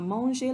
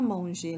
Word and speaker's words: mangé: But in the first example, the active voice, Jean a mangé la pomme, we have avoir in the present tense and the past participle of manger, which is pronounced just like the infinitive, but it is spelled M-A-N-G-E, accent aigu, acute accent.